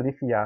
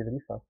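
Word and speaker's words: Leafa: I said Lifia, right? It should be Lifa.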